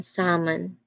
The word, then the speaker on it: salmon: And there's also silent L that has some interesting ones like walk, talk, and even salmon. That L is just not pronounced at all.